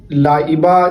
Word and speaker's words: لائبہ: لائبہ نام رکھنا کیا یہ درست ہے یا نہیں، اس کا کیا معنی ہے؟ تو یاد رکھیے لائبہ جس کے تلفظ آپ کو اسکرین پہ نظر آ رہے